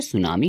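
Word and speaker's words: tsunami: तो यह जो सुनामी होता है इसका जो टी होता है वो साइलेंट होता है। तो इसकी वजह से इसे हम सुनामी पढ़ते हैं।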